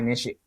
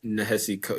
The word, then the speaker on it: Nehesi: mm, It's from Ty Nishi. How do you say his name? Shoot, Lloyd. Coates. Ty Oh, Ty Ty Nishi Coates. Nehesi.